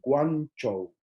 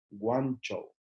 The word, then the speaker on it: Guangzhou: En el idioma mandarín, como se conoce hasta el día de hoy, es la ciudad de Guangzhou. Guangzhou. Muy importante las pronunciaciones, porque si no se pronuncia bien, estamos hablando de lugares completamente distintos.